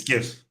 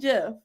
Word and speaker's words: GIF: Do you use a hard G GIF. or a soft G? GIF. It's GIF. It's GIF?